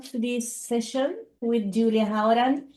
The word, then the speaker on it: Hauran: Welcome to this session with Julia Hauran. It's how I pronounce your name, Julia.